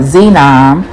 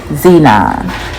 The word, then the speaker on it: xenon: sheena or excuse me that's not how you pronounce it it's called xenon which is a a um colorless dense odorless noble gas xenon so that's the the